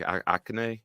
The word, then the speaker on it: Achane: So I expect Mostert and I think Akane is out. I forget how to say his name. Achane.